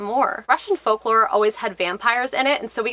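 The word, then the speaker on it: upyr: They had a different word for vampires in this, but like it wasn't like actual like vampire, like it was umpire. It was spelled U-P-Y-R, which actually is pronounced vampire.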